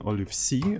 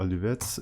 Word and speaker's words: Olive.c: here so today we're going to continue developing Olive C or or Olivet depending on how you want to pronounce that it's a simple Graphics library in